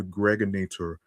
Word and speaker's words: Gregonator: This is your man and homie, aka the Gregonator. Rhymes with now or later.